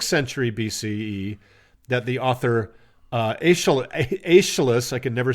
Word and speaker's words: Aeschylus: But it wasn't until sometime in the 6th century BCE that the author Aeschylus, I can never say his name, Aeschylus, thank you, described the three Gorgons thusly: near